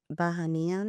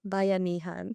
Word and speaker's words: Bayanihan: I think it's that spirit that Bahanian. Is that what is it? Right? So like, how you say it? Bayanihan.